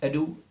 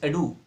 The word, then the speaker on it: ado: इस कहावत को इंग्लिश में कहते हैं much एडू about nothing. Much एडू, ये जो ADO आप देख रहे हैं, इसको एडो या एडो करके नहीं बोलते, इसकी राइट प्रोनाउंसिएशन होती है एडू।